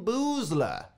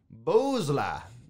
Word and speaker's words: Boosler: the david letterman show boozler i i like the way her name sounds if you say it like that yeah but think like booze it has booze in her name that's all i was